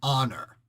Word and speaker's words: honor: so American English n honor because we don't we don't pronounce the h there why I got that